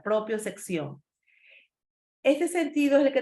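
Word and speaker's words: propiocepción: Pero también, chicos, de otros también que no son tan conocidos debemos hablar, como es la propiosección, así como se pronuncia, propiosección.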